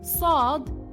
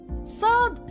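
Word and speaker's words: صاد: The next letters of the Arabic alphabet are Sad and Dad. Sad sounds like the letter S, but it has more of a whistle. Dad sounds like the letter D, but much thicker and deeper sounding. Sad and Dad look very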